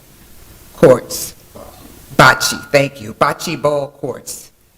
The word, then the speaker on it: bocce: Second, we have concerns about noise and light pollution from the Bocce, am I pronouncing that right? Courts. Bocce, thank you.